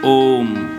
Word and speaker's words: ओम: ओम नहीं कहते हैं ओम अकार उकार मकार ओम जब आप ओम का